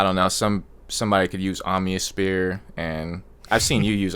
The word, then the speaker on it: Omnisphere: Somebody could use Omnisphere, and I've seen you use Omnisphere. the way you and Tim say it is you guys are both getting trolled. He called it Omniosphere. Omnisphere.